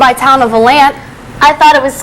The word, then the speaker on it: Volant: I pronounce it Valant. Well, I just think that's what the locals have always called it. And, you know, everybody that's from around this area calls it Valant.